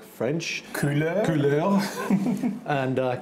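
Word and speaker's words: Kuler: an online service called cooler and actually it's pronounced like French cooler and uh k u l e r and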